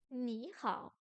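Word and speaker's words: 你好: Remarque, sur les tons, lorsque deux tons bas se suivent, la première syllabe devient un ton montant. 你好 Ni hao, ni hao.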